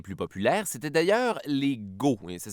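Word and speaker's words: Goths: populaires c'était d'ailleurs les gos ça s'écrit j'ai OTH mais ça se prononce Go parce que tu gotte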